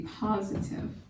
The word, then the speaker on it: positive: The central mark goes there, just before and after the I. Positive. Once again, the I is not accented, so it's not a long vowel sound. But whenever you clap out your syllables, you should still make out the fact that it is an I.